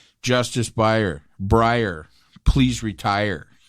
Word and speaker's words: Breyer: It's going to come to me because his name rhymes with retire. And so Justice Breyer should retire.